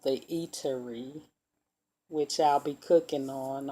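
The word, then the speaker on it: E'Terri: My name is Terry, so I'm calling it The Eatery, but it's pronounced Eatery. It's E apostrophe Terri, which spells out my name, and it's called The Eatery.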